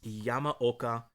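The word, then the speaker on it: Yamaoka: gonna butcher it but i tried to get the pronunciation it's yama oka i believe that's how it's pronounced and his and again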